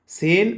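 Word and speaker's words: سين: পাখির নে আওয়াজ হবে সিন কোথা থেকে উচ্চারিত হয় যেহবার আগা নিচের দাঁতের পেট ও আগার সঙ্গে লাগিয়ে উচ্চারিত হয় সি আরেকবার বলেন আমার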